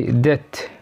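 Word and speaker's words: debt: تاني حالة بيكون فيها حرف البي سايلنت لما يجي بعديه تي، زي ديت داوت ديت يعني دين داوت شك ساتل ساتل.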